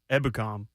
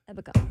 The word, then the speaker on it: Ebukam: Stopping Derrick's going to fall on the shoulders of Ebukam. Ebukam. Dang it, I said it wrong. No, you said it right.